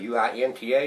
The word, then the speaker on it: Uinta: That's how you spell it, U-I-N-T-A, Uinta.